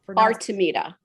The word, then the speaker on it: Artemida: And And the name of your company, pronounce that for me real quick, too, so we know how. Artameita.